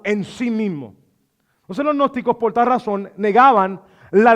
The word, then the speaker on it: gnósticos: Había un grupo que se había levantado que se llamaba los gnósticos, no los agnósticos, sino los gnósticos. Se escribe G-N-O-S-T-I-C-O-S. Los gnósticos, no se dice gnóstico, ¿ok? Es gnósticos, ok, los gnósticos.